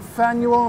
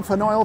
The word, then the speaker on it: Faneuil: And right facing it, behind all that blue crap there, is the historic Faneuil Hall, not Faneuil, Faneuil, Faneuil, Faneuil, rhymes with panel.